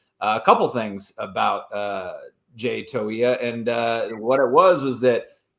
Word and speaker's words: Toia: It's pronounced Toia.